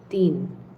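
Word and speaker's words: তিন: So next word is rhyming with din. This means three. So if you know your Bangla numbers three is tin.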